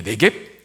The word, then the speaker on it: 네겝: 네겝. 네겝이 문자적으로는 그 문자의 뜻은 마른 땅이라는 뜻입니다. 그러니까 이스라엘의 그 가나안 남부 건조한 사막지대를 가리키는 말, 네겝이라 그래요. 네겝부거든요. 부는 묵음이 돼서 네겝이라고 하는데, 여러분, 당시에는 농사지어서 정착생활을 해야 되니까 농사지어서 먹고 살아야 되거든요.